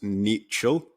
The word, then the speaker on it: Niechciał: another podcast and I am here with Robert nichel correct pronunciation yeah perfect um I feel like it's